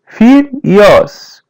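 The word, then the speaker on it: filhos: You have children just listen I repeat say children listen and repeats felios repeat part after parts feels felios felios The H is pronounced as Y. Felios.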